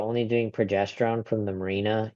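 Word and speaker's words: Mirena: Would Marina am I pronouncing that right? M I R E N A Marina Marina birth control have any contributions towards the cancer if BRCA was negative?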